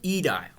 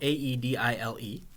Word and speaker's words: aedile: job available to you is the job of aedile, which is spelled A-E-D-I-L-E, aedile.